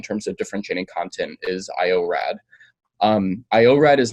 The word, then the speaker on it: IORAD: So IORAD, like just how it sounds.